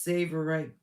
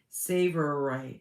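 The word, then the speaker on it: tsavorite: Pronounced Savorite Garnet. Pronounced Savorite. Savorite Garnet.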